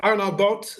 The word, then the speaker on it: Arnoud Boot: So send them to my website, just Arnoud Boot, Dutch pronunciation, Arnoud with an D, Boot with an T, Boot in English, arnoudboot.nl, and you have it all together.